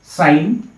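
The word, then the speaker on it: sine: তো যাক আমি SIN সাইন বুলি লিখো বহুতে সিন বুলি কয় কিন্তু এটো ভুল উচ্চাৰণ বুলি মই ভাবো সাইন হ'ব লাগে তো সাইনৰ যেটো অনুপাত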